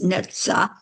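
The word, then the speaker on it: Netzach: wasn't sure but I did look up the pronunciation of this word and it's neta and it is in the um going to just read you what I found about it.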